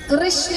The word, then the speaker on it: कृष्ण: कृष्ण कहने में जीभ घूमती है, बोलिए घूमी, जिसकी नहीं घूमी गलत बोल रहा। मतलब हाँ, उच्चारण ऐसा ही है, अगर उच्चारण सही करेंगे तो जीभ घूमेगी।